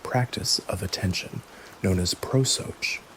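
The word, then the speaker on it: prosochē: Proos. The bridge between the morning's preparation and the evening's review is the momentto- moment practice of attention known as prooch pronounced pro.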